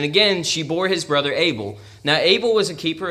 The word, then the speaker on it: Abel: Abel is named Havel. And of course, we say Abel, but it was like Abel, Havel, Abel, but America, Abel. we kind of like to pronounce things that way.